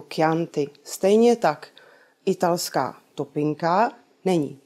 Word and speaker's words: Chianti: To znamená, že proslulé italské víno nebudeme vyslovovat ani číst jako Chianti, ale jako Chianti.